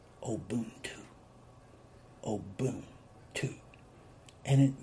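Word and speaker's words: ubuntu: practice they practice a system that was called obuntu oh boom two and you spell it u n b u t u and it is pronounced obuntu oh boom two and it means that all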